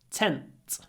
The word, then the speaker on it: tent: So, tent before unvoiced t, tend before a voiced d. Tent, tend, tent, tend.